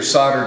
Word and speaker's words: soldered: and these These are soldered together and uh and that's how we say it here in the US so uh the L is silent okay so here's the